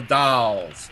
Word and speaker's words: The Dalles: And I got everything from Dallas to Doles to Dalles to Dales. So then I met a guy that was on the town council, and he said it's called the Dalles, and that's, I mean,